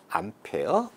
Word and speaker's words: 암페어: A를 갖다가 A라고 읽지 않고 암페어 이렇게 읽습니다.